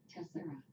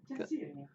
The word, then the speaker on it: Tessera: Tessera. Tessera. That's the American way to say it, according to this dictionary. Tessera. Tessera. That's the English version.